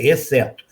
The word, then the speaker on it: exceto: Mas nós podemos ir embora, veja, exceto, que aliás muita gente fala errado, fala exceto, não, é exceto. É como se houvesse 2 S's.